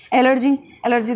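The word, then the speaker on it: allergy: एलर्जी देखो spelling तो ए से आती है बट एलर्जी में ई का वाइब्स आ रही है, तो IgE टाइप एलर्जी के अंदर।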